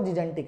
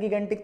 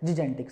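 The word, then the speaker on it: gigantic: ही है, बिल्कुल सही जो इसकी प्रोनाउंसिएशन है वो जिजेंटिक है। पर अपने अक्सर बोल देते हैं गिगेंटिक, तो मैं भी बोल देता हूँ गिगेंटिक, इसमें कोई खास बात नहीं है। पर इसकी सही प्रोनाउंसिएशन क्या है? जिजेंटिक।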